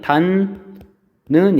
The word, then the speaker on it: 닫는: 닫는. 얘는 발음이 단는 이렇게 돼요. 그래서 디귿이 니은으로 바뀌어요. 뭐 때문에? 뒤에 있는 니은 때문에.